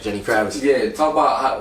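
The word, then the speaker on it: Genny Gravitz: Jenny Kravitz.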